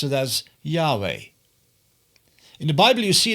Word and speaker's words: Yahweh: all life is always present in English we pronounce it as Yahweh in the Bible you see that many people